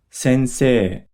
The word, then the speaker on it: sensei: For example, note that an ei combination often creates a long e sound. For example, sensei.